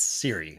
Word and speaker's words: Cirre: it for us yeah it's Siri so just like the iPhone I've heard all the